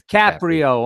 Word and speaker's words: Caprio: It's Caprio.